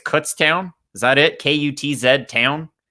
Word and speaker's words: Kutztown: mispronounce this one but I think it's Kutztown is that it k-u-t-z